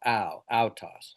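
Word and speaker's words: αὐτός: Now you may have remembered when I showed at the earlier I did out toss uh out toss alpha oopsilon toao omocron sigma outs and I pronounced it like the prow outs.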